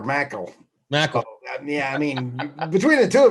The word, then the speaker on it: Merkel: Hey, speaking of, you pronounce her name Merkel? Oh boy, did I frack a well again? Oh no, because I call her Mackle.